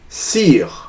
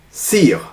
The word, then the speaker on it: Cyr: they were fascinated by a gentleman called Louis Cyr. I'll spell the name for you if you guys want to Google him. Louis Cyr.